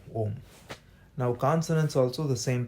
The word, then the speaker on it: Om: Of course, it's not pronounced as Aum, it's pronounced as Om, because A and U, when you say it together, it becomes O, right? That's the diphthong, O, Om.